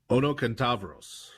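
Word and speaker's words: ονοκένταυρος: of the Old Testament, they translated this word onokentavros, which, since I just said it in modern Greek pronunciation, you may not see, but the middle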